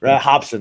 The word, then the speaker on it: Robson: Like when they interviewed Robson Gracie, or Robson Gracie, Hobson. I said it right. Hobson, right.